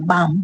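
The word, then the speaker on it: balm: बाम, बाम means मरहम लगाना, इसमें भी एल को साइलेंट रखा गया है।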